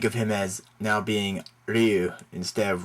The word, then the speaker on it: Ryu: you uh think of him as now being Ryu instead of rayu okay and okay one more this is pronounced hiachi hiachi it's not hiachi okay I